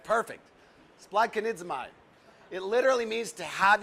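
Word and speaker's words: σπλαγχνίζομαι: Is that how did I pronounce it right, Rick? It's perfect. Spladkonidzomai.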